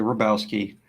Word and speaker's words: Robowski: I know it's spelled Robowski. It's actually Rabowski.